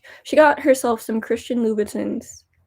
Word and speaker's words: Louboutin: She got herself some Christian Louboutins. Louboutins? It's spelled with an I, but it's French, so Louboutin.